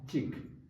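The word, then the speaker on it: གཅིག: Now we know this is silent. Gao cha kiku chi ga chik.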